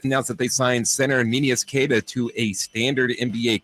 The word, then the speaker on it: Neemias: I think that's like the Portuguese. Correct, yes, like the most correct pronunciation is Neemias Queta, but nobody Nobody tries that hard, really.